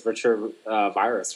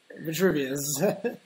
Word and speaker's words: Vitruvius: I like how Octagon says the project Vitruvius. Isn't that how it's spelled? Oh wow! Then I've been going crazy. I've been thinking it's Vitruvirus for some reason. Vitruvirus? No. Vitruvius.